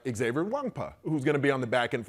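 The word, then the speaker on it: Nwankpa: Yeah, for the viewers out there, pronounce Xavier's last name one more time. Wangpa.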